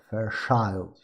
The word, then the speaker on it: Fairchild: Então tá aqui, olha, a Fairchild, pronunciando corretamente é Fairchild.